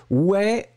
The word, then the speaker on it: ouais: Ouais, on va l'écrire. O-U-A-I-S. Ouais, ouais, ouais, c'est comme ça qu'on le prononce.